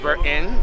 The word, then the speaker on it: Burton: Why y'all pronounce Burton?